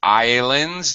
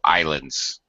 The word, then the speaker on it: islands: And Arlette and everybody else, please be careful of this word islands. The S is completely silent. You don't Okay. pronounce it at all. So islands.